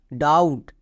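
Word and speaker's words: doubt: বি এর পরে টি থাকলে কে সাইলেন্ট? বি সাইলেন্ট, তার মানে বি এর উচ্চারণ করব না, তাহলে DOUT, ডাউট।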